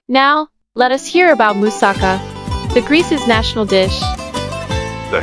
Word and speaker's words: moussaka: fantastic flavors meld when musaka the stress is on the last syllable is baked to perfection